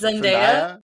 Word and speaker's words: Zendaya: What was Zendaya?